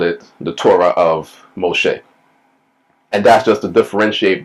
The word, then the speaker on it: Moshe: So Pharaoh's daughter called the child's name Moses, or Moshe, as it is pronounced in Hebrew, because he was drawn from the river.